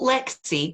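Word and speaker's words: Leagsaidh: full first name oh lexie but as the way of gaelic is as gaelic does call it rather um it's pronounced it's spelled l-e-a-g-s-a-i-d-h pronounced lexi so it's katrina with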